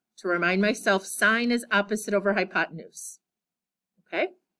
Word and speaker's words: sine: you have to say sine of an angle and the word sign is s-i-n-e we abbreviate it without the e but we usually still pronounce it sine and i'll just put